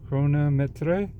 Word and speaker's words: Chronometre: I know I'm pronouncing that last part probably pretty badly, but whatever. It's a chronometer grade, as you can, that's the pronunciation right there on the dial. Chronometre. Metre.